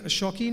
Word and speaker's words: Shauqeen: So yeah, Shauqeen is an IP that we've started. It's actually a word play. It's show, which is spelled as show, and keen.